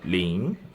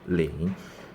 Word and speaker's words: 零: So when I say pronounce 零 at the end of 零, my tongue position is still at here. My nose is still working. 零. And the position of my tongue is still raising up.